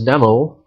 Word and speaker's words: N3MO: Dev and the California Maritime Industry, or University rather, are developing an autonomous boat called N3MO, or NEMO, pronounced as NEMO.